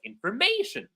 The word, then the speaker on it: information: Today, I have read a very interesting piece of information. You notice when I reached information, I'm putting more strength, more energy on may.